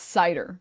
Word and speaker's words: Seiter: came out as bisexual um and oh it's cider it's pronounced so chatting today now Josh you were